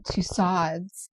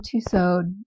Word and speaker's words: Tussauds: Okay, let's talk about my recent Vegas adventure to Madame Tusads at the Venetian. And yes, I said tusads. I have been saying tuso all my life.